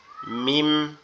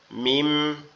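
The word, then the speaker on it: ميم: এটা আমাদের 2 ঠোঁট একত্রে লেগে, 2 ঠোঁটের নরম জায়গা, এই জায়গা এই জায়গা এই জায়গা এই জায়গা একসাথে লাগবে, লেগে উচ্চারিত হবে মিম। মিম মিম মিম।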